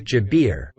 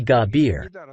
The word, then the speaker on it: Jabir: gabir is in use Egyptians don't use the J sound gabir or Gaber in